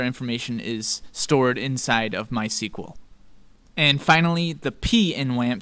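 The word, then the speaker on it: MySQL: M letter which stands for my SQL or my sequel as it's pronounced my sequel is a freely available open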